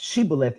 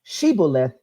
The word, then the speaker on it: Shibboleth: way that is pronounced Shibboleth is Yiddish not realizing Shibboleth is how you actually pronounce it in actual Hebrew and more specifically it's